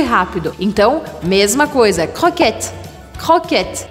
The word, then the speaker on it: croquette: Croquette, você vai fazer aqui no meio da garganta o som do R.